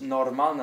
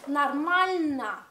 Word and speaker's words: нормальна: Why does normalna not mean pronounce, but pronounce нормальна. Because stress нормальна.